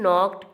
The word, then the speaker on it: knocked: In knocked, K is the silent letter.